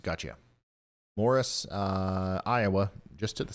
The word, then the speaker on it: Maurice: so your lucky day Maurice's pronounced Morris gotcha Morris uh Iowa just to